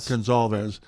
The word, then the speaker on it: Gonzalez: Gonzalez. Looks exactly like it's pronounced exactly like it's spelled.